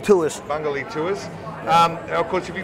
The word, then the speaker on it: Bungoolee: to Tunnel Creek Tours, see you guys at, pronounce it for me again. Bungoolee Tours. Bungoolee Tours. Of course, if you guys want to get on the website, it's Bungoolee, BUNGOOLEE.